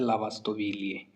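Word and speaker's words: lavastoviglie: उसके बाद में ललावास विलय डिसवासर होता है उसको बोला जाता है लावास्तो विलिए इसमें जी है जो साइलेंट है वह सभी वर्ड में जी साइलेंट रहता है लावास्तो वीलिए यह हो गया डिसवाशर लादसा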